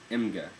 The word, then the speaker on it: Emge: My last name is actually pronounced emge, but my grandfather changed it to sound like emge after he moved to the United States.